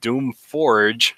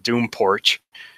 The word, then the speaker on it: Doom Forge: my robots name wrong instead of doom Forge like a fire Forge they said porch like a you know outside your house you go sit on the porch doom porch it's like come on